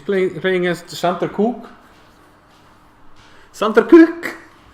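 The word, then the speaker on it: Kukk: Sander Cook. Maybe it's pronounced Cook. I don't know. What do you think, Gunnar? I think it's Kuka. No, it's K-U-K-K.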